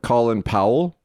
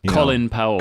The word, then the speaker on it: Colin Powell: Colin Powell. Colin Powell, this is... Colin Powell. They call him Colin. Colin Powell. Colin Powell. Sorry. Not Colin, as it's spelled.